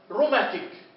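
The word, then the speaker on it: rheumatic: مثال روماتيك روماتيك ليش ما قلت روماتيك ما جبت سيره الاتش روماتيك تمام.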